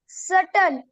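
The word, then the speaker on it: subtle: करणारा करणारा एस यू बी टी एल इ सटल सूक्ष्म एस यू डबल सी यू बी एम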